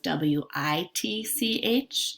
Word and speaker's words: witch: would you like to read an example with witc H is there was a witch in the Halloween